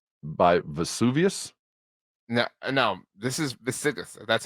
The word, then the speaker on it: Visigoths: This is Visigoths. That's how it's spelled.